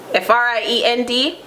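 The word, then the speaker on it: fren: F-R-I-E-N-D. Friend. In Patwa, friend. F-R-E-N. Friend.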